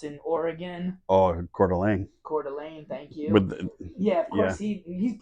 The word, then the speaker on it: Coeur d'Alene: Pebble Beach some French sounding course I can't pronounce in Oregon oh Coeur d'Alene Coeur d'Alene thank you yeah of course he